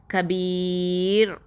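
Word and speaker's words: كبير: இந்த இடத்துல கபீர் அப்படின்னு சொல்லி மெல்லினமாக தான் இந்த ராவை உச்சரிக்கணும்.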